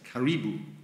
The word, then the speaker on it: karibu: many countries in africa it almost looks like caribou when it's spelled out but it's karibu good job good job